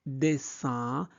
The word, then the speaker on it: dessin: I-N se prononce un. Donc, dessin animé.